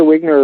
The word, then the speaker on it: Wigner: happened because we know the wigner effect the vigner effect I think is pronounced uh deteriorations radiation deteriorates